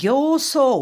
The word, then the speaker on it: 形相: 사실 이 형상이라고 하는 한자어는요, 교소 외에도 케이소라고도 읽을 수 있습니다. 케이소라고 읽으면 정말 형상, 이 모양이란 뜻이 되는데요. 이렇게 분노나 질투 등의 감정으로 무서운 얼굴 표정을 짓는 거라고 할 때는요. 교소와 같이 읽어줍니다.